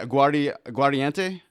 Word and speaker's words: Aguardiente: um is it um am I saying it right aardi guante yeah no it's good all right good I